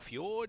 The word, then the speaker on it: fjord: lake nice ice lake ice drake jordan or fjord if you want to pronounce it correctly entirely up to you